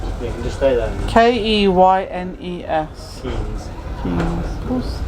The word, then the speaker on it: Keynes: Keynes. Keynes. Keynes. Of course. Same as Milton. Spelled the same as Yeah. Milton Keynes.